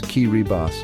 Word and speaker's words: Kiribati: Welcome to Kiribati, pronounced Kiribas, a peaceful island nation scattered across the heart of the Pacific Ocean.